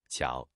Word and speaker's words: 巧: we'll teach you the Chinese character for skillful pronunciation ciao this is a fun character in the Chinese